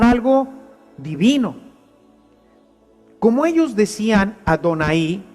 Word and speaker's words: Adonai: hebreo cuando la leyera leyera la palabra yah Así estaba Pero ellos tendrían que pronunciar Adonai y ahí estaban entonces